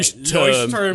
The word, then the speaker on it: Leuchtturm: Lecterm. I was just trying to pronounce it the right way. Leuchtturm.